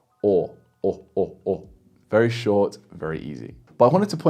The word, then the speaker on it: o: This sound is the simplest one of all the simple finals, and it's pronounced like the AWE in awesome. Or.